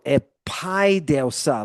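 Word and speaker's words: ἐπαίδευσα: Paideo paideuso epaideusa. Look at where the accent is. Epaideusa.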